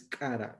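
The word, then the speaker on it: q'ara: Y entre los quechuas y los aymaras es cara. Este apóstrofe de aquí hace que tenemos que pronunciar así como que estuviéramos atragantando.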